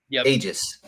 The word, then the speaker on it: Aegis: Is it Aegis? Aegis. Okay. So I pronounced it right for a whole issue.